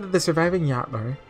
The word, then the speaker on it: Jotnar: this is one of those cases where the J is pronounced Y, right? I'm just making sure. Like in Fata Morgana. Although I think that might actually be more of an H, right? Wait, maybe a Y.